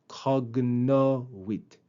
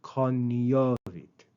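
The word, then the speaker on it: cognovit: Notice the pronunciation of that last word. In ecclesiastical Latin, that combination of the letter G and N is pronounced with nia like lasagna. Nia. In classical Latin, it would have been cognit. But in ecclesiastical Latin, it's coit.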